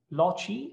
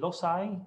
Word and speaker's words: loci: of hajj and tate lochi i would say as an italian but maybe lozai in english oops yeah i will pronounce it lokai for this talk if there are any